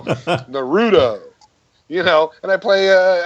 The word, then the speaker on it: Naruto: like to call it not Naruto cuz like that's the right way to say it and I'm you know some Tweedy 50 year old so I say Naruto no real Naruto you know and I